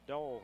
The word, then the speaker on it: Dahl: Looking inside to Dahl, she's double teamed. Shot up, off the glass, and good. They pronounce it Dole here, so I better change my pronunciation I've never heard of also. that way before.